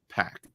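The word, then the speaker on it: Pak: Wars Darth Vader by Greg pack or Greg Pac I believe is how it's pronounced and those are all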